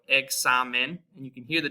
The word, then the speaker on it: examen: So you have the A in car, like examen, and that's that KS sound with the X there.